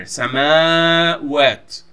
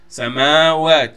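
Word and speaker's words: سماوات: The word samawat in the Quran has this double A in here, samawat, samawat. You don't pronounce it samawat. It's not a single A in here.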